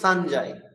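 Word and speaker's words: সঞ্জয়: আমি পূর্বেই বলেছি ইয় একটি নাসিক্য ব্যঞ্জন। ইয় যখন কোনো যুক্তাক্ষরের সাথে যুক্ত হবে তখন ইয়ের আনুনাসিক উচ্চারণ করতে হবে। সেজন্য ইয়ের আনুনাসিক উচ্চারণ হচ্ছে দন্ত ন, সেজন্য সানজাই।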